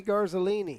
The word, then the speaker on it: Garzolini: Make sure Charlie's saying it right. Not that I don't trust you, Charlie. No, but I wouldn't trust me. It is Anthony Garzolini. You said it right, Anthony Garzolini.